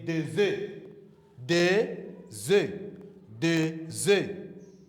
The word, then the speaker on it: des œufs: Say des œufs. Des œufs. Des œufs. E. Don't pronounce the S. Just say des œufs.